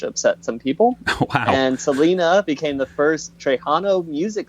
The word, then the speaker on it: Selena: And I think it's not Selena, it's Selena, I believe, is how you're supposed to pronounce it, Nathan.